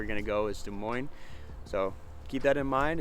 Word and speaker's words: Des Moines: and it is pronounced Des Moines no s the S is silent off the end now Des Moines is